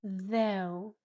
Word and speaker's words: though: And the o u makes a sound o like in go. Go. Though though.